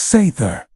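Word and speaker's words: seiðr: Sometimes it leaned on magic specifically a mysterious practice called s pronounced sther which was part sorcery part spiritual therapy and part my ex won't return my runes.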